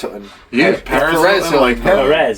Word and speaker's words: Perez: You're saying it wrong. You're saying Paris. Perez. Perez.